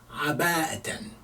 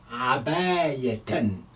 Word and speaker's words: عباءة: Aba'atan is wearing abaya. You can spell it ya as well. You can call it abayatan or aba'atan. Yes, both are correct. Aba'atan or abayatan instead of hamza.